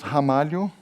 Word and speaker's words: Ramalho: my last name and my last name is pronounced hamu which is a kind of a news here in the US because people I say hamal they go straight to the age of course right and